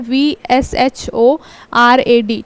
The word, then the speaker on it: VSHORAD: इसको ध्यान में रखिएगा, इसका फुल फॉर्म, इसको क्या बोलते हैं, VSHORAD। ठीक है, प्रोनाउंस कर लीजिएगा।